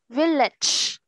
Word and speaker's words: village: Village. T-E này, đọc là ch.